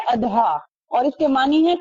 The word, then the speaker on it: اضحیٰ: اسی طرح یوم الاضحیٰ، تو صحیح تلفظ کیا ہے؟ اضحیٰ، اور اس کے معنی